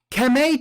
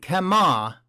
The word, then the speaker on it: Kama: Kame token has been released on the Casino Coin blockchain. Kama, I should say. Kama is how they say it.